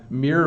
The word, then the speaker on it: mirror: uh mirror uh it it is a bit of a challenge right it's mirror I think it's the double r in the middle that makes it a challenge but you can see